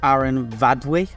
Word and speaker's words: Aran Fawddwy: mountain I'm climbing is Aaron vwe now I saw on someone's comment uh Mark he said the f is pronounced with a V and that's most of the time in Welsh so I I hope